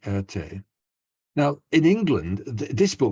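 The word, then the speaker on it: Erté: And Erte was Roman de Tertov, a Russian-born French artist, and Erte, how you would pronounce his initials in French. So it's a nom de plume, if you like, Erte.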